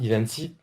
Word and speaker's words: Ivanti: Sur le VADC de Pulse Secure by Ivanti, voilà, Ivanti, si on cherche à prononcer correctement, en fait, le mode de licensing, il est complètement différent.